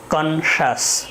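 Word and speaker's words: conscious: সর্বশেষ যে রুলসটি আমাদের মনে রাখতে হবে সেটি হচ্ছে সি আই ও ইউ এস যদি হয় কোনো ওয়ার্ডের শেষে তাহলে উচ্চারণটি হবে বাংলায় তালব্য শ এর মতো, যেমন কনশাস, কনশাস।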